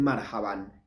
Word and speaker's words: marhaba: usa para decir hola algunos dice marhaba otros dicen marhaban es lo mismo marhaba o marhaban es lo mismo el acento va en la primer sílaba en esta palabra marhaba Cómo pueden responder también